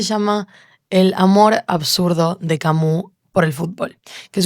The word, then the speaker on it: Camus: Albert Camus se escribe, pero lo he escuchado pronunciar Camus y me gustó, así que vamos con Camus.